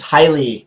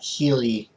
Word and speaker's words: Hyli: please stop trolling me it's highly not healey it's highly uh let's